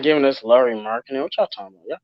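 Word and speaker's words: Markkanen: I can't pronounce his last name. Forgive me. Laurie Markkinen.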